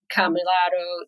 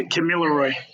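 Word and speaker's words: Kamilaroi: I know you're a member of the Camado Nation. I'm sure I pronounced that wrong. Yeah. Camilaroy.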